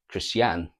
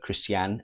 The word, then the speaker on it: Christiane: This has all come about, or this is all brought forward by Gemma's new love interest, Christiane, or Christian, but Christiane as it's pronounced apparently in the film.